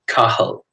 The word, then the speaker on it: Cathal: It's pronounced like Cathal. So the T is silent in the pronunciation.